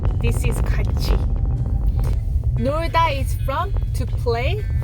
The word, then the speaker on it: 같이: You don't pronounce it as 같이. This is 같이.